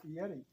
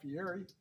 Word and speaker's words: Fieri: He wants to try that Guy Fieri stuff. I don't remember which one it is, but he won't know. I honestly thought his name was Guy Fieri, but I've heard other people pronounce it Fieri.